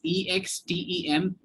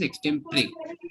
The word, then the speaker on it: extempore: So the spelling is Extempore, but the pronunciation is extempore. A lot of people say extempore, but that's incorrect.